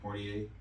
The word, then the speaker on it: Poirier: Is that how you pronounce his last Poirier. name? Poirier.